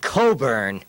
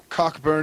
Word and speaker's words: Cockburn: the kabasi which according to Alexander cockburn he pronounces it Coburn uh he may beat the devil any way he chooses but his name is spelled c c k B RN now that's cockburn in my language now Mr cockburn writing for